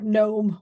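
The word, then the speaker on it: gnome: I was growing up for noome with a G silent letters what a horrible horrible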